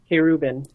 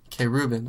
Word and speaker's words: Querubin: K. Rubin. Okay. So, I mean, I'm sure there would be lots of questions from people looking at your name and like, how do you pronounce that? So, K. Ruben.